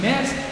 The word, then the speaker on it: Metz: Toi tu dis on est ici à Metz, toi tu dis Metz, Jean ils ne prononcent pas le T, toi tu le prononces, alors c'est quoi?